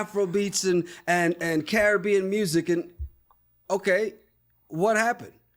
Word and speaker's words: Caribbean: It's Caribbean by the way. Get it right. If you're gonna say it, at least say it right. Because see, that's the problem. In the Caribbean, they start saying Caribbean because they've been Americanized. So, see, it's okay.